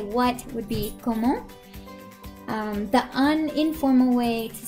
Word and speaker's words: comment: So the formal way to say what would be comment.